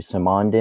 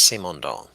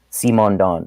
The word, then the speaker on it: Simondon: as you usually do with an introduction to saman de and then go into delicious thoughts on him there Tim I certainly do just as a point of correction his name is actually pronounced C Mon dog C Mon dong oh it's French first name